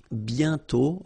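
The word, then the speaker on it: bientôt: And then the final T is not pronounced BTO.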